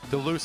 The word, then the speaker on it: DeLuce: Deluxe, I think, is actually the pronunciation now that I remember. Deluxe, got it. Okay, that's a better one.